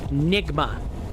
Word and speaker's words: Nigma: It is Nigma.